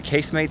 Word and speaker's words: casemates: We have a couple hours before our train, so we're gonna see the casemates, that's how it's pronounced, like casemates and not casemates.